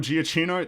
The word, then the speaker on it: Giacchino: I will say it is kind of funny to me that people are realizing now that I believe it's Michael Giacchino. That's how you pronounce his name.